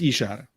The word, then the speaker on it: Ishara: again if it's pronounced do you think it's pronounced differently you're wrong it's ishara um lost last time